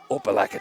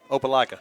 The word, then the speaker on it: Opelika: Coach Collins, work on me, Opelika or Opelika? Opelika. Opelika. I want to make sure that I don't get any hate mails at the end because I'm pronouncing the names.